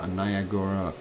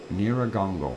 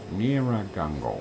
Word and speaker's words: Nyiragongo: Doctor, the Congo quake is 200 meters, 200 kilometers southwest of Niagara, Congo. Boy, why can't I pronounce it today? Nyiragongo. There we go. Nyiragongo.